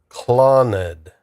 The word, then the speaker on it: Clannad: It's pronounced clowned. Clown. Cloned. Rhyming with Genangghis Khan. Okay. Rhyming with Genangghask Khan. Clon basically followed by a soft nud.